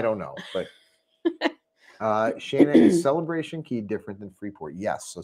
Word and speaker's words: Celebration Key: could talk about with Celebration Key or Celebration K or whatever. Royal Caribbean's the only one that messes up and calls it K, but that's just because it rhymes.